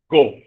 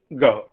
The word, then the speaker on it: go: Oh, this is also a problem because we replace it by the vowel O. We say go, whereas the correct pronunciation is go.